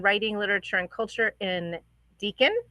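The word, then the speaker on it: Deakin: literature and culture in Deacon did I at least say that right yep that one's right okay Deacon University of Melbourne um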